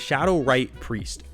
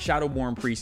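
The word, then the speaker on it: Shadow-Rite Priest: get the name wrong it's Shadow right priest I always want to call it Shadow born priest and this is the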